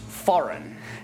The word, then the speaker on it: foreign: an ad campaign another word that has a silent G is one that I've seen many Learners trip up with this word is pronounced foreign now we do pronounce